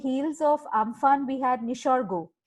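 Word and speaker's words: Nisarga: That when just after this, I think 2 weeks on the heels of Amphan, we had Nishargo, right? I'm pronouncing it the Bengali way, Nishargo.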